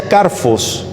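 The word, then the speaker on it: κάρφος: Qué es la paja del griego carpos carpos y como es con pH se pronuncia carfos como con f carfos Sabe qué es una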